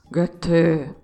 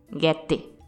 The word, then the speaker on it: Goethe: Eu consegui um alemão para me ensinar a pronunciar. Olha só. Goethe. Bom, o pessoal lá de Santa Catarina com quem eu conversei diz Goethe, com aquele sotaque deles.